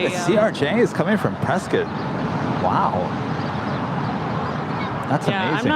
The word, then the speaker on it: Prescott: Prescott, Arizona. Is that Prescott? Prescott, Arizona, and their Whiskey Row. Old country, western town-ish. Very cool. Really? The CRJ is coming from Prescott?